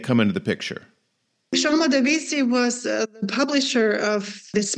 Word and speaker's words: Badovici: Because my understanding is that Eileen Gray and a man she was with, Jean Badovici, is that how you pronounce his name? Yeah, I think Badovici.